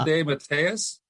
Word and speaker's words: DeMatteis: You said DeMatteis? Yeah, that's how he told us to pronounce it. He used to in my day. He was Mark DeMatteis. When I was there, it was always DeMatteis, and he would correct people.